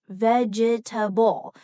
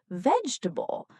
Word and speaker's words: vegetable: Some learners pronounce each part vegetable, but in natural English, we usually say vegetable.